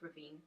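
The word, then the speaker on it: Ruthven: He's an author, and he wrote Lord Ravine. It says in the book it's pronounced Ravine, so that's what I'm going with.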